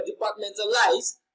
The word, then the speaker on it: departmentalize: So when you pronounce departmentalize, you can hear that men is pronounced louder and longer, departmentalize.